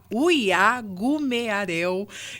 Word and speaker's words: Uiagumeareu: é com o Libério Uiagumearel. Eu falei para o Libério hoje que eu teria dificuldade em pronunciar o nome dele, mas o nome dele é exatamente como se escreve, né?